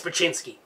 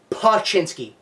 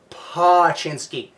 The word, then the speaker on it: Poochinski: Loves Raymond Everybody Hates bachinsky I feel the need to point out that his name is in fact pashinski again pashinski everyone pronounces it that way he pronounces it that